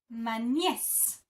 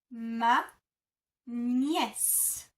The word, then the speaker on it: ma nièce: So for niece, you would say ma nièce. Ma nièce. Ma nièce.